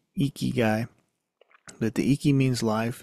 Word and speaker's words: Ikigai: the iy means life I'm probably saying it wrong it's probably like eeky eeky eeky guy but the eeky means